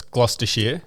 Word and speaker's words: Gloucestershire: what what I miss so it's gloucestershire okay perfect it's a good